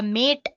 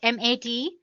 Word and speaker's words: MATE: boots you into the mate desktop environment let me pronounce it m80 you can call it whatever you want mate or mate desktop environment so as you can see